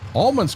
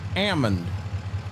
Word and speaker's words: almond: Almonds come from trees. Yeah, we've been when when you go to California, it's not called an almond. It's an ammon. The the L is silent.